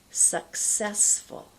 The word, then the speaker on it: successful: go back to that that's such a tough word I'm always helping people with that sound one more time successful make sure that cut comes through all right this next